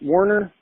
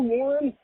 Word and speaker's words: Warner: Is it Warner? Warner Hodges, yeah. Yeah, Warner. He kept mispronouncing his name. He kept saying, "Man, I was in the show, Warren. Hey, Warren." He kept calling him Warren.